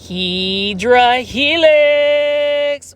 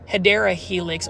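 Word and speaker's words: Hedera helix: 1 2 3 Helix or the correct way to say it guys, say it with me. Hideera helix or the English Ivy.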